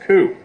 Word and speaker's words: coup: In Native American cultures, there is a practice known as counting coup, pronounced coup.